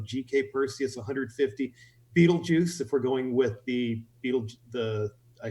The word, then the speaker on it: Betelgeuse: I know I took Arabic and I know the G is a guttural, so it should be like sound to it if it's pronounced, because most of the stars have Arabic sounding names. But and especially since the movie Betelgeuse came out, Americans have always said Betelgeuse, and I know what